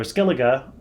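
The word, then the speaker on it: Skellige: journey from central to Skellig or Skellig ah pardon me as we now know it's pronounced which took the lives of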